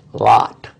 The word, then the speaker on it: Lot: lot which we pronounce lot with one o it becomes if you put two o's it would have been loot yeah but they put